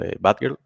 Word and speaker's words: batgrl: It's called batgrl, or that's at least how I pronounce it, even if it doesn't have the I in there.